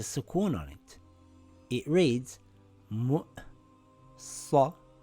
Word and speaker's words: مُؤْصَدَةٌ: It reads mu'sadatun. Mu'sadatun.